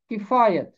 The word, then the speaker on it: کفایت: کے اوپر زبر ہے۔ کفایت، کاف کے نیچے زیر، یہ کے اوپر زبر، اس کا تلفظ ہے کفایت۔ اسی طرح ہدایت، عنایت،